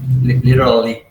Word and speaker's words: literally: literally yes literally do you see it's kind of like you have to say it's like you have to act um active thinking about not saying the tea yeah yeah a little trick is to use your tongue almost like a letter D when the tongue goes at the roof of your mouth behind your teeth literally instead of literally literally it kind of just rolls out literally okay anything else a